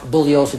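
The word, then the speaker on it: Bugliosi: my name is pronounced bulliosa the g is silent i've told you this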